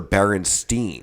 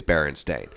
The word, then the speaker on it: Berenstain: that it was ever berenstein it was always berenstain and the family itself is barren stain not berenstein or stein or whatever however you wanted to pronounce it back then which i